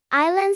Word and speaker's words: island: Our island. Silent. S A island.